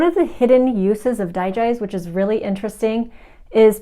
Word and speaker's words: Digize: dye guys essential oil or digize as some people say whenever you're curious about how to pronounce this essential oil name just think of digestion this oil is great